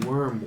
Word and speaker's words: Wyrm: The other place is called the Worm Works, like spelled like a WYRM.